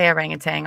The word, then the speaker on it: orangutan: The orangutane.